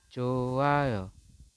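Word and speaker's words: 좋아요: Yang betul adalah haknya tidak terbaca, teman-teman. Jadi Anda membacanya cukup johayo.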